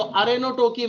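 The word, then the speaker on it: arrhenotoky: अरहेनोटोकी, अरहेनो नर, ऐसा उच्चारण आ रहा है ना, अरे नर, है ना? तो अरेनोटोकी में अगर अनिषेक जनन से केवल नर बनते हैं तो उसको अरेनोटोकी बोलेंगे।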